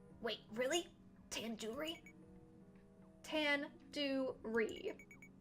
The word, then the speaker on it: tandoori: Surely you at least recognize tandoori chicken. You're saying it wrong. Wait, really? Tandoori? Tandoori. The do, it's like door. It's like doo-doo head.